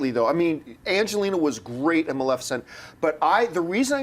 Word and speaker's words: Maleficent: Maleficent uh simply because you almost said Maleficent I know I know it's hard hard time for that all time I know I'm always correcting people it's Maleficent but it's so hard